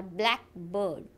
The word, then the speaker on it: blackbird: English compound words are stressed on their first component word.